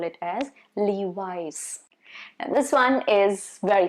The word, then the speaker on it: Levi's: Then next one that I have for you is Levi's, not Levis. No, not Louis. No, Levi's.